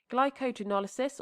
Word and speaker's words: glycogenolysis: by the enzymes there glycogenolysis or glycogenolysis um pronouncing it like that so it's easier to remember the Lis of glycogen